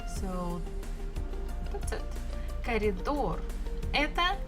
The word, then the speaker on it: коридор: Коридор. Коридor. We also have bukva O and bukva R. Коридор. Stress falls on the final syllable or door. So that's it. Коридор. Это коридор.